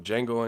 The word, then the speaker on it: Django: you know say I'm Django Unchained up this motherfucker the D is silent that kid for to